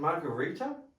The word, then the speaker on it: Marguerita: Is it Marguerita? Mm. Okay, cool. I wasn't sure how it's pronounced.